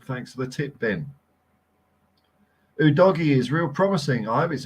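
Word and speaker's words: Udogie: otherwise Chris I trust I trust Chris met a football's TV pronunciation though he seems to put effort into it so if he says it's who doggy I'm gonna go doggy for a while real promising man yes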